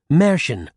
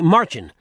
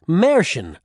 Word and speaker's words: Mercian: Some people say Merchin. That's closer, but still wrong. Others say Mercian. That's about as close as I've ever gotten to pronouncing it right, so it's probably good enough for you, too.